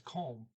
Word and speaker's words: kom: but in story 11 kom is calm short o sound okay so you got